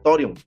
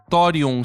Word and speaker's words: Thorium: E lá uma coisa ganhou Seola Fortes, que inclusive é um mangá que é cristão chamado Torion.